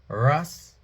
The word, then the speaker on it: Rastafari: R-A-S, capital R, A-S, lowercase, capital T, A-F-A-R-I. So them pronounce it Rastafari.